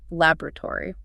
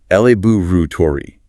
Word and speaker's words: laboratory: What about longer words, like where scientists work, laboratory? Another good example of stress shift. AME often stresses the first syllable. Laboratory. BRE frequently stresses the second.